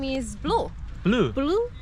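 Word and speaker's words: BLOO: Yeah, his name is Blue.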